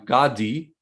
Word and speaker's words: Gadi: time one more time say his name slow God D g-a-d-i yeah yeah so you